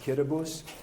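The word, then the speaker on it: Kiribati: It's spelled Kiraabati, but it's pronounced Kitabus.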